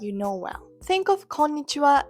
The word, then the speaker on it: こんにちは: So, the wa in konnichiwa is actually the particle wa, not the sound wa. That's why it's written ha but pronounced wa.